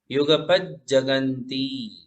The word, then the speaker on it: युगपज्जगन्ति: नास्तम कदाचिदुपयासि नराहुगम्य स्पष्टीकरोषि सहसा युगपज्जगन्ति ज डबल है, 2 बार ज है तो 2 बार उच्चारण। युगपज्जगन्ति। हाँ, प के ऊपर जोर देंगे तो बराबर उच्चारण होगा। पज्जगन्ति, युगपज्जगन्ति।